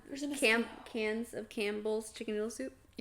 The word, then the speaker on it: Cannes: Is that how you say it? Mm-hmm. Cans. Cans? No, it's not cans. It's can, for sure. I was like, I said cans, and I was like, that's not right.